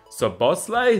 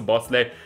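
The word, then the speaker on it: Szoboszlai: for the likes of dominic so boss so bosley so i believe that's how you pronounce it to bosley from rb salzburg who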